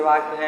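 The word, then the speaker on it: walk: ये imperative sentence के वाक्य हैं। जैसे मैंने लिखा लेट अस वाल्क, मैंने लिखा, क्या लिखा, लेट अस वॉक। चाहे वाल्क बच्चे पढ़ते हैं, वाल्क में यल साइलेंट है।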